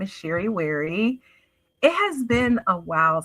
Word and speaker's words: Sherry Wherry: So, first, my name is Sheri Wary. Yes, it rhymes.